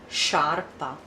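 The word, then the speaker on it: sciarpa: kiyow hard Scarpa Scarpa here there is the e so soft sharp ax Scarpa sharp ax notice our interesting here just by changing a letter by adding a letter change changed the pronunciation and the mean Scarpa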